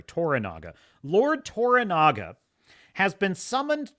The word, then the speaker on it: Toranaga: sonata's uh Lord Yoshi tanaga t let me make sure I'm pronouncing it right toranaga sorry toranaga Lord toranaga has been